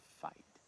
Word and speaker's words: fight: Sounds like a F-Y-T-E. Fight. Fight. Fight. But you got a G right there. But it's a silent G again. The G-H is like silent, like a light, right, Right. a right, Right. slight, Slide. but it's a G-H, and it's silent, and usually you get your...